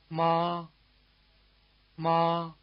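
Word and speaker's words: 妈妈: By the way, the weak second syllable in mama is not in one of the four tones. It's said to be toneless or in the neutral tone.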